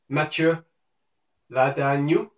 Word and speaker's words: Matthieu Ladagnous: No, I think it's something like Matthieu Ladagnous. Oui, je pense. Matthieu Ladagnous.